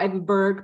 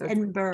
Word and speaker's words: Edinburgh: it's Edinburgh Edinburgh Barbara it's not as it's spelled it's just like but the end is Borough so Eden but it's like bruh Edinburgh Edinburgh I think more like no number it's like bra almost at the end like